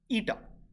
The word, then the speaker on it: eta: This brings us to the really important concept of thermodynamic efficiency, which is represented by this symbol, which is pronounced as eta.